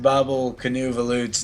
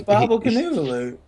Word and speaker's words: Boblekonvolutt: Apparently, I butchered Boblekonvolutt's name.